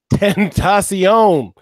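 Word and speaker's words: XXXTentacion: Tentacion. That's actually how you pronounce it.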